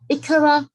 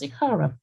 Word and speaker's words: ICARA: and risk assessment, or ICARA or ICARA. There's sort of a controversy out there as how it's pronounced. The FCA had one view in their seminars in November, and everyone was sitting there saying, I always thought it was ICARA, but however you pronounce the abbreviation, it's ICARA.